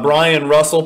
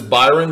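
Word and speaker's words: Bryon Russell: Next in line is our Brian Russell. People mispronounce this Byron because of the way he spells it, but his name is actually Brian Russell.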